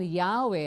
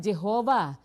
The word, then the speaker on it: Yahweh: sabi po nila rito while inclining to view the pronunciation Yahweh as the more correct way we have retained the form Jehovah because of people's familiarity with it since the 14th century